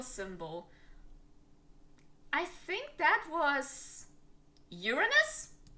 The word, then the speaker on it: Uranus: And yes, I say Uranus. This is the right pronunciation. Uranus, not your anus.